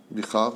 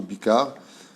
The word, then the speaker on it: Bikhar: Comment on le prononce? B-I-K-H-A-R. Bichar ou Bikar.